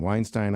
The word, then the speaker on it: Weinstein: Uh, and you came in and you said, uh, my last name rhymes with Einstein. Weinstein. Einstein.